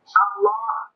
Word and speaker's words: আল্লাহ: হা এটার উচ্চারণ করি আল্লাহ শব্দের শেষে যে একটা গোল হা আছে ছোট এটা সুবহানাল্লাহ সুবহানাল্লাহ কইলে তো শুধু লামের মধ্যেই শেষ হয়ে যায় তো আল্লাহ শেষে আরেকটা হাটা বল এশক উঠতে না এত